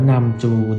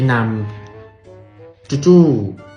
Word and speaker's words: นัมจู: ตัว นี้ เลย ครับ นัมจู อ่าน ว่า นำ จูง นะ ไม่ ใช่ นำ จู่ ๆ ไม่ ใช่ น้ำ ด้วย นะ เอ๊ะ ทำไม เริ่ม มัน